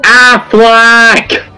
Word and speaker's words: Affleck: It's pronounced Affleck.